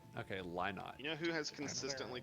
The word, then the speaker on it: Lynott: God, Pronounced Chinatown's Lynott. Okay, Lynott.